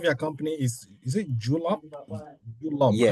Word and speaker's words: Julob: Julob. yeah, How does it pronounce?